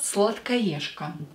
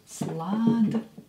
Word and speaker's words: сладкоежка: И последнее слово – сладкоежка. Сладкоежка. Сладкоежка. Сладкоежка. Here this же will be pronounced as ша.